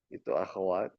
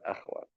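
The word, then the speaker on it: أخوات: saudarinya inna, kelompoknya in akwat jamak dari apa ibu bapak? Ukhti. Ukht. dari bacanya knya di fathah ya, bukan di sukun. Akwat bukan akhwat. Akwat jadi supaya tahu kita cara bacanya.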